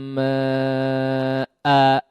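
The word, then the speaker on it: ماءً: Sama ma'a, ya, ketika diwaqafkan juga, ya, kata ma'a, ma'an misalnya, ya, wa asqainakum ma'a, kalau kita waqafkan, ya, ma'a, di situ tidak ada alifnya, namun kita panjangkan cara membacanya, ya, atau disebut juga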